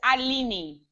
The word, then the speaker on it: Alini: Oh, so you asked me how I pronounce my name. It's Alini. Alini, okay.